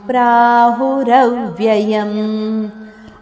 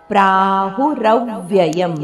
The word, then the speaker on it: ಪ್ರಾಹುರವ್ಯಯಂ: ಶಾಖಂ ಖ ಮಹಾಪ್ರಾಣ ಅಶ್ವತ್ಥಂ ಪ್ರಾಹುರವ್ಯಯಂ ಅಶ್ವತಂ ಇಲ್ಲಿ ಮಹಾಪ್ರಾಣ ಪ್ರಾಹುರವ್ಯಯಂ ರದ ಮೇಲೆ ಆಘಾತವಿದೆ ಪ್ರಾಹುರವ್ಯಯಂ ಮುಂದೆ ಛಂದಸಿಯಸ್ಯ ಪರ್ಣಾನಿ